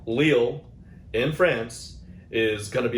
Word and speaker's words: Lille: Lille, I think I finally pronounced it right. Lille in France is gonna be a lot of fun.